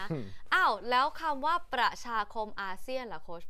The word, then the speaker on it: อาเซียน: ขอ อีก ที อาเซียน อาเซียน ออก เสียง เหมือน ตัว ส นะ คะ เพราะ ฉะนั้น เรา มี ทั้ง เอเชีย เรา ก็ มี อาเซียน ไม่ เหมือน กัน นะ คะ ใน ทาง